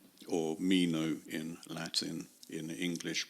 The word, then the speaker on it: Meno: in common with me about this here zenos Menon or Mino in Latin in English pronunciation anitus and Mino are kenoi in Athens